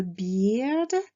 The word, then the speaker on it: beard: A beard, une barbe. Attention donc à la prononciation des lettres E, A. C'est un I long, beard.